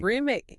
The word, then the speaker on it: roommate: roommate. Put them together. Roommate. And the stress, the louder part, is on the first syllable, room.